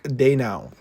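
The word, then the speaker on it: Daigneault: Second option was the Oklahoma City Thunder coach, Mark Daynaut. I think I'm pronouncing it right. I don't believe you pronounced the G.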